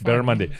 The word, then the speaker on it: barramundi: It's barramundi.